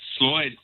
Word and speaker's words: Sloyd: Now, first, my very first question, am I pronouncing this right, Sloyd? That's correct. Sloyd Sloyd Experience.